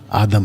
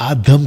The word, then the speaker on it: आदाम: उनका प्लूरल, उनका नाम आदम रखा। तो पुरुष का नाम भी आदम और स्त्री का नाम भी आदम। और आदम का सही प्रोनाउंसिएशन है आदाम।